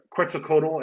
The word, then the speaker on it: Quetzalcoatl: in something uh uh quetzalcoatl i think is actually the pronunciation or something uh close there too um and then the